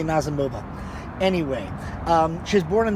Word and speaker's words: Nazimova: And then we've got Nazimova, or Nazimova, depending on your point of view. I've heard people pronounce it both ways. I say Nazimova.